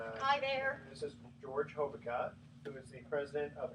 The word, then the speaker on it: Hobica: That is how you pronounce it, right? Hobica. Hobica. Okay, let me make sure I got that because I've been trying to do Hobica all this time. Okay, so Hobica.